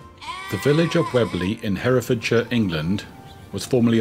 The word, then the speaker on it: Weobley: doomsday book and is still pronounced the same as it was written then with the silent o if anyone's lost a